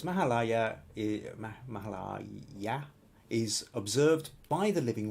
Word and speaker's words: Mahalaya: in India, yet surprisingly, Mahalaya Paksha, and she's actually written down pronounced Ma as in Mark, Ha as in hard, La as in lark, Ya as in yak. So Mahalaya Paksha that is observed